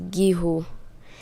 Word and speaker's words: guijo: And tell us what it means, and maybe you can spell it out for us. Okay, so my winning word was giho, and it means a large Philippine timber tree